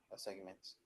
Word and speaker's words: assignment: Marcelo I finish the assignments okay we're going to review okay okay did the pronation the assments area assignments assignment assignment assignment yes the G is not present er no it's not